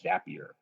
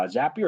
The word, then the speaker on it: Zapier: of a company called zapier and their little tagline is zappier makes you happier or it's not the